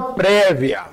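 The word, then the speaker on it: praevia: a pena sin prévia se pronuncia prévia mas se escreve paraa éva legis scripta porque toda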